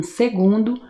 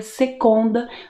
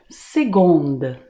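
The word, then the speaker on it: seconde: um exemplo né básico segundo se escreve com c e se pronuncia como se fosse um G Então você nunca pronuncia secunda você sempre vai pronunciar segunda tá bom e para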